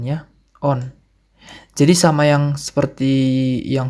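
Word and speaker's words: он: Kalau dia laki-laki on ya, on.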